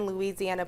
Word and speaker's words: Luzianna: We don't spell it Louisiana. It's Louisiana with a U-Z, phonetically sounded.